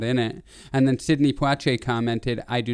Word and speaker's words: Poitier: famous actor sidney poitier i looked up how to pronounce it i've always said poeche i've been saying his name wrong but it's poiche yeah but sydney he